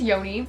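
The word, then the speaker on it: Joni: know about my relationship his name is Yoni it's spelled j o n i if you're wondering he's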